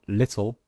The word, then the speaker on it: little: Example, in the word little, the L sound is in fact a new syllable.